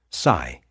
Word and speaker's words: psi: investigating psychic phenomena often abbreviated as PSI pronounced Sai Sai experiences have been